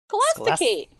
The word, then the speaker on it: Scholasticate: That's how you say it, right? Scholasticate. Yeah, Scholasticate is correct.